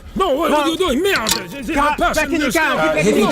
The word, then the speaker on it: merde: Merde! Sorry, it's pronounced merde. Eh? Pronounced merde. Did I say murder? It's merde, I said isn't it? merde. Merde. Sound like murder.